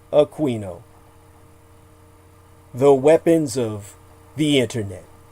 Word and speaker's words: Aquino: as he preferred his pronunciation, Aquino.